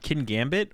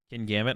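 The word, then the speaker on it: Kingambit: Kin Gambit? Okay, that's what I thought. I say it like King Gambit.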